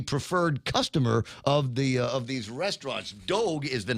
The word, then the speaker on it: Dogue: It's called Dogue, D-O-G-U-E. Oh, wait a second. Hold on, I said it wrong. They say it rhymes with Vogue.